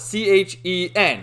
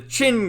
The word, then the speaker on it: Chen: And another instance, too, there's like a mafia group called the Chen Gang, and it's spelled C-H-E-N, Chen, right? But there's another character who calls it the Chin Gang, so how'd they fuck that up?